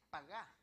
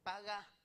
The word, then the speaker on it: pagá: En la palabra cargó, en el verso 6 de Isaías 53, la palabra en griego es, en hebreo dice pagá. Es paga, pero con acento en la segunda A.